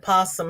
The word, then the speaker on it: opossum: It's spelled opossum, but the O is silent.